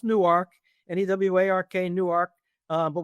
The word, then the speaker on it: Newark: Remember it's pronounced Newark and EW Newark.